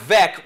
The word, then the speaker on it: Veeck: Mike Vec rhymes with wreck.